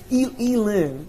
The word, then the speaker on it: Elin: Elon didn't beat your ass enough. No, Elin is how you say her name.